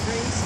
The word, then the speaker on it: Rhys: The name is Rhys. It's spelled.